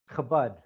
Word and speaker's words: Chabad: Give me a Chabad. Chabad. Okay. Chabad. Chabad. Chabad. Okay, A few of good. my Jewish friends are gonna laugh at me when they see this. Yeah. Well, the Chabad.